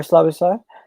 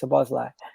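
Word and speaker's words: Szoboszlai: So it's between Arwa or Slobosly. Sabazlai. That's how you say it, Sabazlai.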